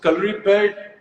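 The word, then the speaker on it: Kalaripayattu: so calorie pad, Hrithik, I'm so proud of the fact that you said the name correctly because in India, I Thank don't you.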